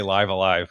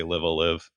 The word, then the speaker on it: Live A Live: still going to say livea live based on like what the Japanese uh katakana says. You're supposed to sort of say it as um it's it's it's pronounced the same on both words.